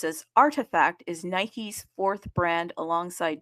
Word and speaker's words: RTFKT: So, RTFKT, which uh is pronounced as Artifact, is Nike's fourth brand alongside Jordan and Converse brand.